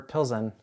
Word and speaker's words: Plzeň: I just order Plzeň.